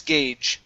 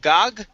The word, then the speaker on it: gauge: next up is gas gauge instead of gog it's gauge gas gauge gas gauge okay